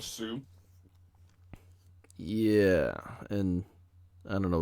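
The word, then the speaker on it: Sioux: a native tribe yeah s i o u is that i don't know how to pronounce that that is that's called sue yeah and i don't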